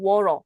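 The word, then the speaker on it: water: 그다음에 워터 할 때는 워터라고 말하고 워러. 그때 루로 발음하죠.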